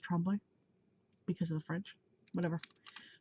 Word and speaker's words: Tremblay: at Devil's Rock by Paul Tremblay and everybody pronounces it Tremblay but this is a very popular name in our city and it's pronounced trembling because of the French whatever so oh my